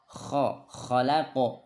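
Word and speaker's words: خَلَقَ: Khalaqo sama sebelum sampai ke qaf sudah mantul. Khalaqo bukan khalaqo. Jadi sebelum sampai sudah mantul. Min, tahan. Min syarri ma khalaqo.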